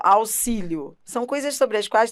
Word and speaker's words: auxílio: quando você fala ó auxílio são coisas sobre as quais talvez você nem tenha pensado mas isso cai em prova ó auxílio auxílio ele tem som de dois s né aux máximo você